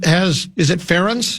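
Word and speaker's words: Ferentz: Has has has has it fence? Is that how you pronounce it?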